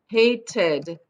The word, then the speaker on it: hated: this verb so then this one is going to be pronounced ed like red so so it's going to be hated so this sounds like